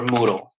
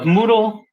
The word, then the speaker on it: Moodle: can just look for Moodle spelled like noodle but with an M there it is Moodle